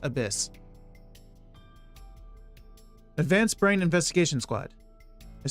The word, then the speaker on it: ABIS: god what the hell abis oh wait no Abyss right it's it's pronounced Abyss Advanced Brain investigation Squad